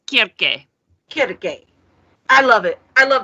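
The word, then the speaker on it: Circe: pronounce it sir kirk cersei what is it yes yes it's c-i-r-c-e i'm reading i'll think it's cersei what i said everybody thinks it's cersei but it's kierke i love it i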